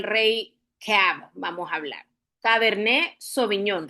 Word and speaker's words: Cabernet Sauvignon: cab vamos a hablar caberné soviñón, recuerden la pronunciación. ¿Por qué la pronunciación? porque eh es de origen francesa.